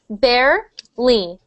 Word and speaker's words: barely: um next one barely we pronounce that only like two syllables so uh when you were saying it you said barely uh and we just say barly barely barely barely and